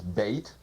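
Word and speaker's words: בית: of this second letter of the alphabet is bait pronounced b or V usually it means a house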